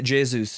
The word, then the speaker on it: Jesus: yeah, Jesus it is actually. Jesus, sorry. Because if you're Brazilian, I think Brazilian people don't pronounce the J like Jesus.